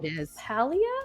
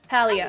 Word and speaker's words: Palia: It's called Palia? How do you pronounce that? Palia, okay.